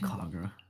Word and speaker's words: Kagura: Kagura. Thank you. I've tried to practice. I've heard the R, the little like R sound is very difficult, even though there's no R in the word.